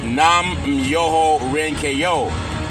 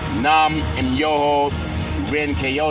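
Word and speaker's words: Nam-myoho-renge-kyo: It's Nam Myoho Renge-kyo. Nam Myoho Renge-kyo is the pronunciation of it.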